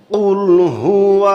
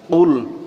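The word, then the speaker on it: قل: লাম পেশ কুল কুল এই কফ অবশ্যই আপনাকে গলার ভিতর থেকে বলতে হবে কুল না বলে যদি আপনি বলেন কুল মানে কফকে যদি আপনি গলার ভিতরে না নেন তাহলে এখানে অর্থ মারাত্মকভাবে পরিবর্তন হয়ে যাবে কুলহু আল্লাহু আহাদ অর্থ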